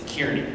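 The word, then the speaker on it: Kearney: to see it's not it's not Carney folks it's Kierney okay I don't I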